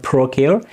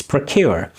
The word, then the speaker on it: procure: is pronounced as procure again schwa sound in the beginning is not procure it's procure and now it is